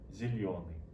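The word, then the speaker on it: зелёный: In Russian, it's pronounced zelyony.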